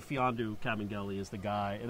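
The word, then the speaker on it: Mfiondu: I would say Fiondu Kabengele is the guy, and that's how it's pronounced, by the way. Well, look at this guy showing off over here. Fiondu, the M is silent.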